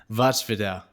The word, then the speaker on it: voivode: a slovak word which i looked up how it's pronounced and it's way cooler it's watchfidel which is it's pretty cool